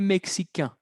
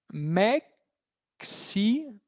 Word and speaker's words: mexicain: Mexicain. Mexicain. Ahí. ¿Por qué? Porque habíamos estudiado que la AI se pronuncia E. Entonces, ahí era AIN, que era un.